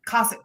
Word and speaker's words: Kosek: Yeah, Kosek. Well, that's the way it's supposed to be pronounced.